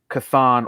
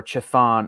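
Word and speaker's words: Chthon: supposed to house the spirit of kathan or chathan or however you want to pronounce it it's like ch apostrophe t-h-o-n so this entity is a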